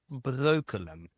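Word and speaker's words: Breukelen: And this village is called Broken. Broken. Now try to pronounce that in English speaking Brooklyn. Brooklyn. Exactly. They became that became Brooklyn.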